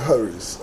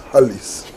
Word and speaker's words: Harris: Even the Harris, I've heard some people pronouncing it as Hallis.